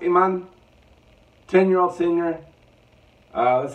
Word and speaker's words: Emanne: it another AGT video this is Iman I believe it's pronounced Iman 10 year old singer